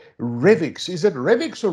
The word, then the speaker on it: Revix: called revic's is it remix or rivix how do i pronounce it sean it depends a bit i guess if you're us-based or uk-based or south african uh it's revx so so either way